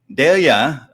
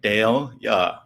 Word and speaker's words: Dahlia: Dahlia, pronounced like DALE-yuh.